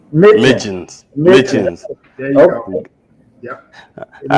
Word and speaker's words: Mitjans: It's is the pronunciation, right? What's that? Is it is the correct pronunciation? It's Mitjans. Mitjans.